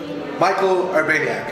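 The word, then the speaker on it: Michał Urbaniak: Michal Urbaniak, am I saying it right?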